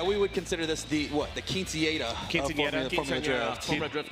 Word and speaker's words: quinceañera: Yeah, we would consider this the quinceañera of Formula Drift. Formula Drift quinceañera, that's right. You got to roll your R's better, Paco.